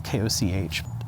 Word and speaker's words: Koch: to dr jennifer koch i think that's how you pronounce her last name it's koch dr koch works for